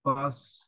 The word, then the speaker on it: pas: Mais pas Pas না, Profe- pas, is silent.